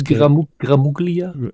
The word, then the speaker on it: Gramuglia: Anthony gulia and this gramuglia it could be UGA I think gulia could be both uh G is sometimes silent uh it is almost